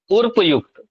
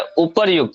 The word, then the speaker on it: उपर्युक्त: उर्पयुक्त, ये तो हो ही नहीं सकता। उर्पयुक्त कभी सुना है? उर्पयुक्त। अब एक है उपरयुक्त, यहाँ पौ के बाद रो पढ़ रहे हैं।